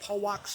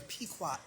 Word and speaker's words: Pequot: and another um audio I said the name wrong I think I said Paul walk's tribe but it's the Pequot the Pequot tribe and there's a tribe